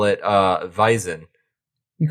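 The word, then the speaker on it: Wiesn: you call it uh vizen you call it what and apparently vison vise w-e-i-s-i-n something like that um but i i know that the w is pronounced like a v but yeah you call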